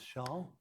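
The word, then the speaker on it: Chasles: me a long time to learn how to pronounce Shaul but that's what it is a Frenchman and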